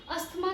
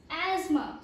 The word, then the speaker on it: asthma: ज़्यादातर लोग, जितने भी लोग हैं इंडिया में, वो इस वर्ड को अस्थमा कह के प्रोनाउंस करते हैं, whether it इज़ in English, Hindi और एनी अदर लैंग्वेज। लेकिन इंग्लिश में इसका प्रोनाउंसिएशन अस्थमा कह के बोलना या करना इज़ रॉन्ग। तो आप कैसे इस वर्ड को एक करेक्ट वे में प्रोनाउंस कर सकते हैं वो मैं आपको लिख के बता देती हूँ और मैं बोल के भी समझाऊंगी, which is AZMA। यस, इट्स एज़मा।